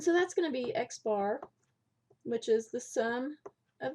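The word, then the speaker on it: x̄: We do call this, or it is pronounced x bar.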